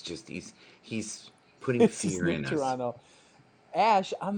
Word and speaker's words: Toronto: Americans say Toronto Toronto, and you Yeah, guys say Toronto. You don't say the T at the end.